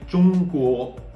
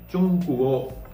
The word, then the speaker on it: 中国: Okay, so we learned that ZH is pronounced just like you pronounce the DGE in judge. Okay. And the tip of the tongue should be on the roof of the mouth. Okay. And by the way, Chungkuo means China. Okay. And you already know that G is pronounced like K. Okay. That's why Chungkuo, Chungkuo.